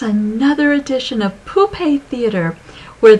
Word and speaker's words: poupée: Hi everyone, it's another edition of Poupée Theater, where the puppets, or poupée in the French pronunciation, help us learn more about Abraham-Hicks and law of attraction.